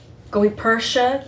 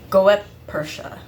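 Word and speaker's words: Goeppertia: or GA Gua Medallion I'm sorry if I'm butchering that name I still haven't been able to find out how to properly pronounce it it's g o e p p e r t i a go Persia or or Persia goep Persia so but many of us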